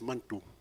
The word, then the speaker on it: Manitou: For God, Creator, our word is Mantu. It's spelled Manitou, but we say it so fast, it sounds like Mantu.